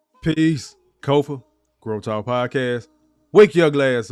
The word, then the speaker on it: Kofa: I am your host, Kofa, K-O-F-A, not coffee, not kufu, not Kofi, or any variation thereof. Kofa rhymes with sofa. Easy to say, easy to spell.